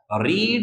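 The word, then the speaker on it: read: रीड रेड रेड। Spelling वही होती है। प्रोनंसिएशन डिफर हो जाता है।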